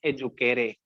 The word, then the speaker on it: educare: From the Latin word EDUCARE, इसको हम pronounce करते हैं एजुकेरे, कॉमा which means क्या, to deliver।